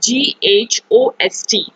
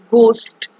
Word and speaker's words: ghost: for example that is ghost ghost we will not pronounce this word as ghost burst so the si word sorry the letter h is silent in this word so now have a